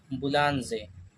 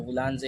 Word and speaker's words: boulanger: Bakery का head होते हैं शेफ बुलानजे। इनका जो बुलानजे एक फ्रेंच वर्ड है, इसका स्पेलिंग होता है BOULANGER।